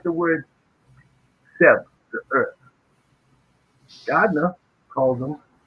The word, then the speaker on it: Geb: They call him Keb. In Primordial Medunetta, in your sacred Sanskrit, it says Seb. And we know that Seb is the proper pronunciation because we spell it